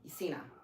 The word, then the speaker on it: Cena: Have him cosplay as John, what is Sienna? Is that how you say it? The wrestler? Who, John who? He does movies that I like with Mark Wahlberg. John Cena? Cena.